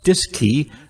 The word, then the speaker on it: DSKY: digital display and keypad known as the dsky pronounced disk key on board both the cm and lm mission control at houston also had a disk key to interface with the